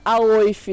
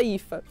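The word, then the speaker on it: Aoife: E essa daqui é a Ifa, famosa Aoif, né? Muito conhecido esse nome pelos brasileiros como Aoif, que se escreve Aoif, mas fala Ifa.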